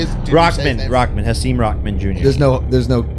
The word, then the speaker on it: Rahman: Hasim Ramen Noodle. Ramen Noodle. Is that Jr. how you say it? Rockman.